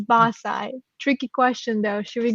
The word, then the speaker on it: BAScii: it but it's pronounced basae so it's one single word basically which stands for bachelor